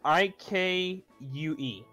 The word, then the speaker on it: Ikue: It's spelled I-K-U-E.